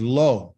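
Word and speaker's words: לא: this it's negative okay and how do you pronounce it is low and low means no so here's some examples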